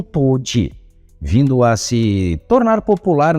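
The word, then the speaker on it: 唐手: para o karatê, e os caracteres chineses na palavra nem mesmo eram pronunciados por eles como karatê, mas sim como toji, vindo a se tornar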